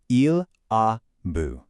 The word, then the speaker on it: il a vu: It is il a vu, pronounced il a vu. Il is our subject, a is our avoir auxiliary, and voir becomes the irregular vu.